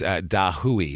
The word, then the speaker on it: dahui: oh no I did it's dahui is how you say it d a h